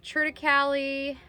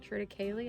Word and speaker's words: triticale: And it is kind of a blend of triticale, I guess you'd call it triticale. I think that's how you say it.